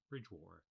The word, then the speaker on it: Bridgwater: hence bridgewater or bridgewater over time the l of bridgewater was lost from the spelling although not from the west country pronunciation bridge war the middle e was